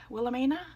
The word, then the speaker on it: Wilhelmina: Wilhelmina is how you say her name.